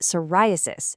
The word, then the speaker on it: psoriasis: It's cerosis and the other one is psoriasis. Notice that silent P at the beginning.